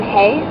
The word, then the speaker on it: Hay: he had a friend named John Hay I pronounce it Hayes at some points also lying Taurus um in any case so don't believe me if I call him John Hayes as well that's pretty much